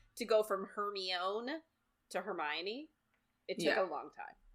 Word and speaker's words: Hermione: and oh my God Hermione I pronounced it herion I pronounced it hermion at on the end well I yeah it